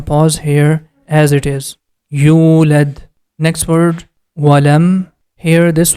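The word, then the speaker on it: يولد: Whenever you see letter Waw is coming after Dhamma, we have to stretch Dhamma sound for 2 count. You. Next syllable is led. The complete word is yulad.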